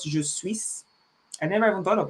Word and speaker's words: je suis: It's silent. So there are some words that are silent in French language. We don't pronounce there's some consonants that are silent. So you just pronounce je suis, not je suis.